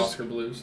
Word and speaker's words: Oskar Blues: I pronounce it Blues? Oscar. Oscar Blues? Oscar Blues, thank you.